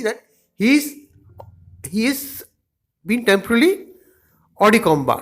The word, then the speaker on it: hors de combat: The next word is written as hors de combat in English, but it is pronounced as hors de combat. Hors de combat. It's a French word.